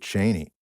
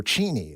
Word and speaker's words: Cheney: there well he nailed Dick Cheney or cheny is how his last name is actually pronounced why did you reject